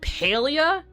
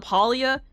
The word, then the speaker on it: Palia: Yes, Polia without I don't think they would accept me anyway because it technically it's officially called Paleia. It's not called Pia. I call it Palia. It's called Paleia.